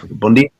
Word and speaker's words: bom dia: get used to the That's weird how they pronounce N. They pronounce N like M. Yeah. Bom dia.